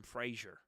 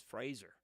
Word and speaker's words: Fraser: re-sang the song and pronounced his name correctly Fraser it's really been a hard time uh re um uh training my brain how to say his name correctly because I've known him since George of the Jungle and I've always called him Frazier and it feels like